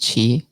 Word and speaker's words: Qi: i would just mention that it's uh it's pronounced chi chi okay but yeah i know that's awesome